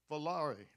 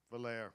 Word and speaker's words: Valere: Christina Alston Valare. Valere, well, I blew it. Valere rhymes with there.